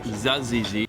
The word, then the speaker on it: tzatziki: we've got some hummus Tzatziki although it's pronounced zazigi just being near the